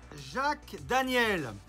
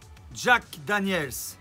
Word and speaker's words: Jack Daniel's: montrer moi cette bouteille jacques daniel jack daniel's y as à la fin je passe ça se